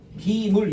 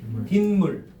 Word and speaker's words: 빗물: 비물 이러지 말고 발음해봐. 빗물. 분명히 니은 받침이 없지. 근데 무슨 소리가 덧나? 니은 소리가 덧나고 있죠?